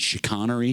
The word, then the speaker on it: chicanery: Is it chicanery? Chicanery? Yeah. I say chicanery. Chicanery, yeah. And British, maybe chicanery.